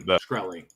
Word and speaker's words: Shkreli: Shkreli.